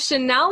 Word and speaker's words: Shanelle: another episode of food for thought i have chanel here with me today did i pronounce that right yes you did okay perfect